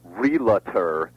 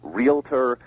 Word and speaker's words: realtor: For example, you said one earlier in the show, realtor is wrong, just as jewelry is wrong and nuclear is wrong. Right. All those are beastly mispronunciations. They should be realtor, nuclear, jewelry.